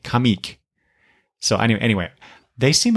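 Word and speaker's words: Comeek: comic that sounds weird comic is spelled c m e k kamic so any anyway they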